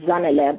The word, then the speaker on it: Zanele: My name is actually Zanele, okay? That's how you say my name, Zanele, but people here struggled too much, and so it just became Zanele.